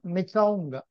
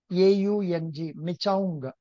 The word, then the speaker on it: Michaung: Michaung. Michaung. Michaung.